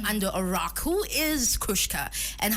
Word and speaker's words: Kurzca: So how do you pronounce your name? Okay, Kurzca. Kurzca.